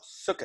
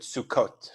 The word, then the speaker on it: Sukkot: plural of huts but if you're pronouncing it with the Ashkenazic pronunciation once again this would be called suka s-- because this at the end instead of the top but we pronounce it Sukkot for our class here awesome and I think